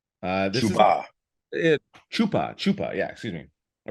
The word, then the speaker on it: Chupa: And then lastly, Pete, we have Chuba. Let me make sure I'm pronouncing that right. This is Chupa.